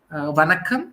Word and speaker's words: Vanakkam: How do you say hello in Tamil? Vanakkam, we say.